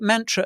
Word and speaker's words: Mantra: I think Mantra as well. I think it's pronounced because like a mantra, a yoga mantra.